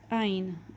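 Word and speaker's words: ע: It makes the sound of A and E. So back in the day, this used to be a lot more throaty, like ein. Not anymore. Now everybody pronounces it as like A or E.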